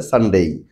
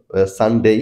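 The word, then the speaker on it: Sunday: যায় দ্বিতীয়টা হচ্ছে হচ্ছে সানডেই শেষে আমরা সাধারণত ডেই উচ্চারণ করবো ডেই নট ডে ডেই যদিও ডে উচ্চারণ করা যায় যেমন সানডে অথবা সানডে তো সানডে এটাই বেশি প্রচলিত তারপরেরটা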